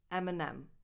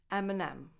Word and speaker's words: Eminem: Number 10, Eminem. Like the candy, but without the S at the end? Yes, exactly. Eminem.